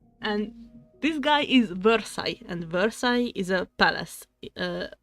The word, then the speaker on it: Versailles: But they pronounce this as Versailles. Like, that how it's written in English, but it's Versailles.